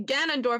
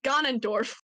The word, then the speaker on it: Ganondorf: like ah so like every time I say like I'm supposed to say Ganondorf I say gun and Dory it's cause I'm in